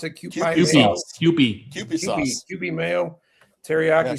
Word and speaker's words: Kewpie: That was one of the So, yeah, Vienna Beef hot dog, panko, the Kewpie Kewpie How do you pronounce it? Kewpie sauce? Kewpie.